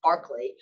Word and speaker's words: Berkeley: century irish philosopher george berkeley which is actually traditionally pronounced barkley who was the inventor